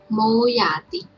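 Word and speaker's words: မိုးရာသီ: So here is alphabet ma and o symbol, so we pronounce mo. And second one is alphabet ya and a, so we pronounce ya. And the last one is alphabet ta and e symbol, so we pronounce ti.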